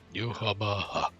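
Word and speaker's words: Yhwach: Yuhaba. I Oh, also come on, like- that pronunciation was spot on.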